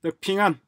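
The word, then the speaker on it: 平安: 어쨌거나 핑안, 평안이죠. 평안. 한국식으로는 평안, 중국 발음으로는 핑안, 원커넥트.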